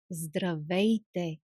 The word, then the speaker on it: здравей: You see, we have three consonants. One after each other. Зд р ср Здравейте. Здравейте.